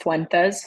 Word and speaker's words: Fuentes: It's a my last name is pronounced Fuentes, so my full name is Fuentes.